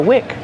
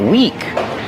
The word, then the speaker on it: wick: Every candle has a wick. Pronunciation, wick. Use the short I sound like this is. This is the wick of the candle. Wick. Not weak with a long E like green beans.